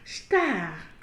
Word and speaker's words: estar: Notez que nous n'avons pas dit estar, mais nous avons prononcé star.